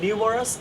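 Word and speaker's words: numerous: অথবা দেয়ার আর নিউমারাস students in the class, new উচ্চারণটা মনে রাখবে, নিউ মানে নতুন। দেয়ার আর নিউমারাস students in the class.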